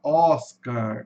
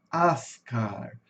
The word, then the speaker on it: Oscar: Aqui em inglês, aqui em português, né, a gente fala Oscar, só que em inglês também muda. Olha aqui, você vai ter um som de ter um o com a, né? Esse o é uma vogal curta, então ela vai ter sonzinho de a. Ascar. Ascar, né?